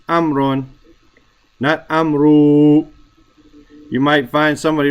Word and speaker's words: Amr: you go to Egypt you'll find people pronouncing their name amaru my name is amru as if to make that long I'm rule no his name is Amron Amron when it's met